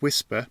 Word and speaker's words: WSPR: to say about whisper wspr pronounced whisper stands for weak signal